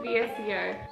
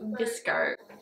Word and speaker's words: VSCO: And then I go to VSEO. And it's pronounced VSCO. I didn't know that at the time, I just said VSEO because I thought that's how you say it.